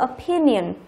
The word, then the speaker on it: opinion: Tiếp theo câu 15 chúng ta có từ opinion. Opinion trọng âm thứ 2.